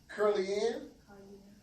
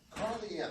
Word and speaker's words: Carly Ann: Curly Ann? Carly Ann, like Carly.